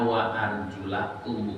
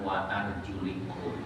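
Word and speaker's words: وَأَرْجُلَكُمْ: Bacanya wa arjulakum bukan wa arjulikum.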